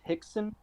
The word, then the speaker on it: Rickson: And Kron's father is pronounced Hickson Gracie, but it's Yes.